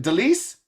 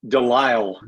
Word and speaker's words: DeLisle: I uh again uh help me with the way she pronounces it Delise no DeLisle DeLisle yeah okay I'm gonna I'm gonna write it down so I'll know it the Lyle there we go gray